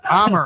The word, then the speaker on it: Amer: Right now, my guest is Amir from HTY Law in Detroit. Yep. It's pronounced Omar or John? Omar Omar, I'm sorry.